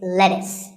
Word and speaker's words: lettuce: i know the spelling looks like it's let's use but it's not it's lettuce and since we're talking